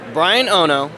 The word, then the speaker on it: Bryan Ono: And today, I am joined by none other than Bryan Ono. Did I pronounce that correct?